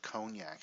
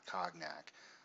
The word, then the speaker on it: cognac: comments um Pepe Sylvia conac is pronounced conac it is not cognac um don't uh don't